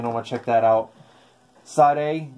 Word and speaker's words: Sade: what check that out Sade the original where they had to put the you know the pronunciation sharda so that's a really